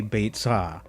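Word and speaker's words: ביצה: Anyway, the word for egg in Hebrew is apparently beitzah. Okay, that's the modern Hebrew pronunciation.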